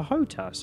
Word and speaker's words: HOTAS: I've heard this pronounced different ways. I'm opting for HOTAS as it's least likely to get me in trouble with human resources.